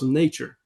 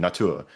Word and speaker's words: Natur: So, as an example, I think the one that you just mentioned, Natur, Mm. Natur. It has it all. It's got this kind of final syllable stress, Natur.